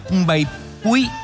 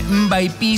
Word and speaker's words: Mbaipy: no la habíamos preparado, que se llama Mbaipui o Mbaipi. Mbaipui. Empieza con M, ¿ves? Como un burucuyá. Claro, exactamente. Mbaipi se escribe y mucha gente le dice así. En Goya le decimos Mbaipui.